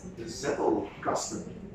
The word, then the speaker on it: Zettelkasten: That's the Zettelkasten. Zettel, Kasten. So big box. Big box. Zettel. Yes, Zettel. Yeah, in German you pronounce the Z a little bit different than with the Dutch.